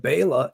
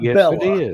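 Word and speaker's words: Béla: pronunciation of Bala losoi but Baya is the proper pronunciation of the man's name not Bella it's Baya but people have gotten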